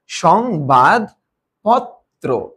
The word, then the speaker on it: সংবাদপত্র: হচ্ছে এইটা সংবাদ পত্র কারণ এই যে রফলা যদি শব্দের মাঝে এসে থাকে সেটা আশ্রয় বর্ণকে দিতে তার মানে এটার উচ্চারণ কিরকম হবে সং তারপরে কি হবে বাদ তারপরে কি হবে পথ তারপরে কি হবে ত্র সংবাদপত্র ঠিক আছে সংবাদ পত্র এরপরেরটা